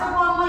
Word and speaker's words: Soepomo: Terus tokoh yang ketiga adalah Supomo. Ejaannya Soepomo tulisannya.